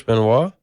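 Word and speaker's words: Benoit: Chris Benois. Is that how you pronounce it?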